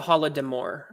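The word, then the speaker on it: Holodomor: says it was the holodemour um i think voldemort yeah hold them or is how it's pronounced and cross comics says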